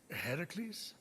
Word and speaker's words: Heracles: you doing there that thing with your voice heracles yeah that that is how it's supposed to be pronounced seems like a lot of work but